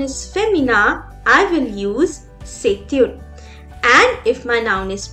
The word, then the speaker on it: c'est une: Here I'm joining the sound of T and U again and I pronounce it as c'est une, and the last one is ce sont des.